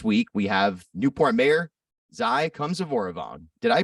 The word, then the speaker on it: Xay Khamsyvoravong: This week, we have Newport Mayor Xay Khamsyvoravong. Did I pronounce that right?